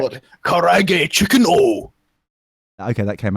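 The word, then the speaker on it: karaage: No, it's Japanese. You have to pronounce it in Japanese. You can't just like. What? Karage chicken oh.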